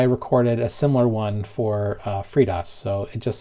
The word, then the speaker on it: FreeDOS: Hello, I pronounce FreeDOS as FreeDOS.